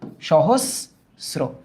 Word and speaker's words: সহস্র: সহস্র তো বলি না, স তারপর বলি হোস। তাহলে দেখো প্রথমে বলছি স, তারপর বলছি হোস, সহস্র, সহস্র।